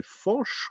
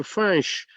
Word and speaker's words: Fañch: écrits f&a imc h tout simplement parce que c'est pas prononcé franches comme on entend souvent franche est une francisation de frêche c'est à dire c'est